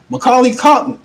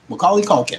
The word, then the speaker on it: Macaulay Culkin: Macaulay Culkin. Did I pronounce his name right? Macaulay Culkin. Macaulay Culkin, right there.